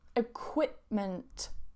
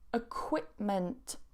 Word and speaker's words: equipment: So notice I don't pronounce that P. Equipment. Equipment.